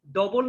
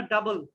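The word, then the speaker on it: double: এটা কি ডবল না ডাবল? ডাবল। কিন্তু অনেকেই ডবল বলো। এই ডবল যখন বলবা তখন এই যে মানুষ কি করবে, হাসাহাসি করবে, কিন্তু এগুলো উচ্চারণ হবে ডা ডা, ঠিক আছে? ডাব, ডাউট, ডাবল।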